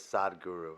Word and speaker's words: Sadhguru: guru Indian guru and his name is Sadhguru that's I think that's how you pronounce it but it's spelled sadguru like if you actually spell it that's not a good saying he's brilliant and he